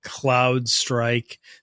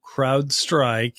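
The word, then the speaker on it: CrowdStrike: in the security Community call it Cloud strike they're mispronouncing it or they're calling IT Crowd SEC by accident so crowd strike is the you know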